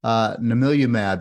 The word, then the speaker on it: Namilumab: Namilumab is a next-generation precision medicine. It's pronounced Na-Mil-U-Mab. I know it's a mouthful, but after we say it 100 times, we get pretty good at it.